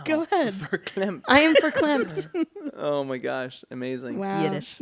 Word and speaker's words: verklempt: Well, it says pronounced verklempt.